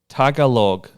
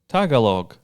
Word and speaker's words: Tagalog: too far from LA it just says it's pronounced Tagalog not Tagalog T yeah you that could be what check